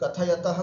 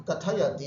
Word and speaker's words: कथयति: है, तो राम कथां कथयति इति। शुद्ध उच्चारण करना, कथयति, कथ्यत नहीं बोलना, कथयति, कथयतः, कथयन्ति, इस तरह से उच्चारण करना।